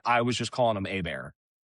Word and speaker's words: Herbert: was just calling him A-Bear. I think it's crazy to pronounce it Herbert, but it is A-Bear, isn't it? Well, he pronounces it Herbert.